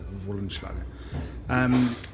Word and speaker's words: Wollenschlaeger: Yeah, W is a V in German, so Wollenschlaeger.